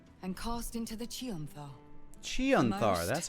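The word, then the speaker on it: Chionthar: from its foundations and cast into the chanthar chanthar that's how you pronounce it that was the end of it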